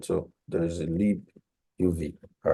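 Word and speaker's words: libuv: it called the Le U so that's right pronunciation so there is a Le UV all right so this is um this is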